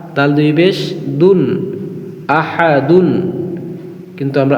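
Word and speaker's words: أَحَد: আ হা জবর হা তাল দুই পেশ দুন আহাদুন কিন্তু আমরা আহাদুন বলবো না ওয়াকফের সময় এখানে যেহেতু আমরা থামবো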